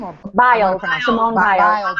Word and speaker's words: Biles: Biles is her last name, or Biles. Simone Biles. Biles. That's what I thought. I wanted to pronounce it correctly.